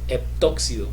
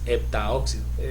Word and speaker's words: heptóxido: Es heptóxido, así se llama, así se dice, heptóxido de dicloro, ¿verdad? No es heptaóxido.